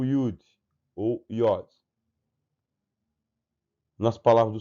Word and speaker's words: Yud: É uma consoante também, mas tem o som de Y, como nós pronunciamos o Y.